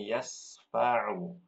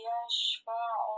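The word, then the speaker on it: يَشْفَعُ: Bacanya yas atau yash? Yash. Nah, Ibu tadi bacanya yasfa'u, ya.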